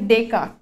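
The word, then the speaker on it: Descartes: नाव होतं ठीक आहे याचं प्रोनाउन्सिएशन आहे डेक कार्ट डेक card but याचा स्पेलिंग आहे असं तर यामधलं हे जे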